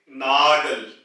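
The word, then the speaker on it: Nagel: नाखून जो के नेल है उसको हम कहेंगे नागल नागल और नाक यानी कि नोज को नाज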